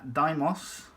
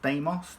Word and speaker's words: Deimos: time is triplex file uh daimos or deimos depending on how you want to pronounce it now deimos is significant